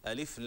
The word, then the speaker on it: الم: لا ننطقه لا نمده نقول انما نقرا هكذا الم م الم م الم م الله هكذا نفتح الميم و نفخم لفظ الجلاله والكتاب المبين هذا قسم